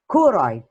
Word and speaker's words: choroid: is called the choroid ch but it is pronounced choroid it's a black layer fallon that is found